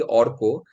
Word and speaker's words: Arka: So my name is actually Orko because it's a Bengali name. It's a Bengali name. So that's how we pronounce it in Bengal.